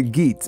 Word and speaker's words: Geats: Some people say Geats, but I think it's Geat is the way it's pronounced, the Geats.